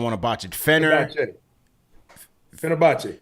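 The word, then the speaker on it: Fenerbahçe: He says Nicks and pronounce his team's name for me so I don't want to botch it. Fenner Fenerbachce Fenerbachce.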